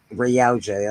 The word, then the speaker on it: Yautja: And in Jordan Morris' story, blah, blah, blah, I don't know how to pronounce that, Warrior stalks one of Earth's greatest fighters. Yautja. Yautja, that's it.